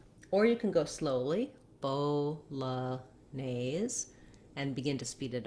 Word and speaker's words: Bolognese: like a schwa so i find it helpful to break it at bo la neis because then you don't have to do you can just glide your light l at the beginning of the syllable this nese has the a vowel and the sc says the z sound in this word you